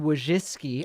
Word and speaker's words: Wojcicki: from youtube ceo susan wojcicki i don't know why i don't even believe it's pronounced that way but that's the way people tell me it's pronounced okay david if you